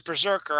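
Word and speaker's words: BRZRKR: written by keanu reeves it's called brz rkr which is berserker obviously but it's spelled brz rkr so uh the hero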